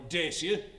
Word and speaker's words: Dacia: Morton Northwest calm and the all-new Dasher Duster or Dacia if you must pronounce it that way yes it is new